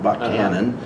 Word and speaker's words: Buchanan: He was a Scotsman, and in Scotland they pronounced their name with a K sound, Buchanan, even though it's spelled